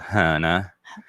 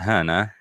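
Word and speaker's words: Hönö: The little island called Hana. No. That's how they pronounce it, Hana. That's so cool. It's spelled Hono.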